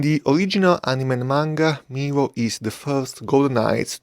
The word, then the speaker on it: Milo: And because he's Greek, his name is pronounced Milo and not Milo.